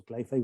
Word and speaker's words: cli-fi: So CliFi works, and it rhymes with sci-fi also.